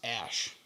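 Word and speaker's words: Æ: Yeah, it's pronounced Ash, is what he said.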